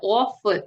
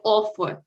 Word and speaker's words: of: Дуже часто ось це off, так, off, ми вимовляємо як off. Але правильна вимова цього of. Якщо ви кажете off, то native speaker вас зрозуміє як all double F.